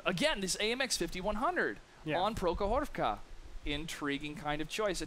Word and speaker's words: Prokhorovka: It's Prokhorovka. And to me, it kind of sounds the same, but how you pronounce it is important.